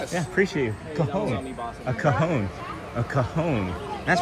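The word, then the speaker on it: cajón: How do you how do you pronounce that instrument? Coahon. Coahon. Coahone.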